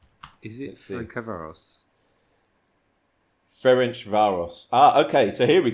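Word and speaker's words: Ferencváros: And how do you need the phonetic pronunciation. I'm going to try and do it. Their name. Is it Ferencvaros?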